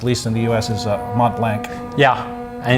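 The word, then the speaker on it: Montblanc: So it's Mont Blanc in one word, but No without C whatsoever. Exactly. Yeah. Wow. It's a silent.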